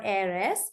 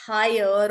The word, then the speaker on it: heir: become an heir or airs so even that word because it's not pronounced as higher or here or whatever it's not pronounced with an AG it's pronounced as air that's why you say